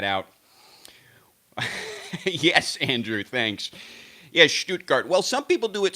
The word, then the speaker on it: Stuttgart: it was in Stuttgart don't you like how I pronounced that stuttgart needs to speak a little German so Shh scoot scoot you can actually do it Stuttgart as well but I think yeah